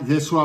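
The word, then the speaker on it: ישוע: que nosotros conocemos Fíjate en arameo Jesús se pronuncia yeshua bar jfet Pedro es jefas Juan es johanan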